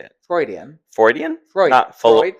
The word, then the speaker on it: Freud: Freudian Freudian Freud. So it's f re e u d freud. Freudian. Freudian. But Freud is just one syllable.